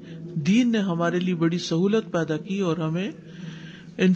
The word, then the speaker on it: سہو: سہو ہوتا ہے, سہو نہیں ہوتا. سب لوگ اپنا تلفظ بھی درست کر لیں. سہو جیسے لغو, ٹھیک ہے, کرب, نفس, سہو.